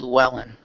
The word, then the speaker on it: Llewellyn: And it's fair Desmond Llewellyn. That's how you say his last name. Sorry, I don't know how to pronounce that.